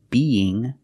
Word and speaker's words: being: We see be as a gerund with ing, being pronunciation, when you have the two E sounds, being, you have a E sound in the middle to link the sounds together. Being, being.